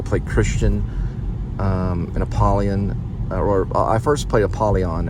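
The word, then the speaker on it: Apollyon: play Christian um and apalon or I first played apolon and then I played Christian we pronounced his name as as aolan which is basically like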